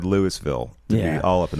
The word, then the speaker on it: Louisville: I was in Louisville, which is apparently how you're supposed to pronounce it. I said Louisville to Brittany and Zach, and they were very offended. No, they made sure to correct me that it's like Louisville.